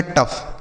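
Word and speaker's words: tough: जैसे टी से हो गया ट और ओ यू जी एच को अफ। तो इन दोनों को मिला के बनेगा टफ। क्या हो गया?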